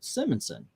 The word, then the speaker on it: Simonson: mean clock I understand I call Shenanigans on how you pronounce uh simmonsson the name literally means Simmons son and you pronounce the name Simon uh correctly so the last name is the same plus an on on the end so Simonson yes uh Eric is so